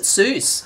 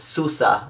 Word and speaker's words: SUSE: really hard I had to look at I pronounce it Seuss that's what I would say Seuss but I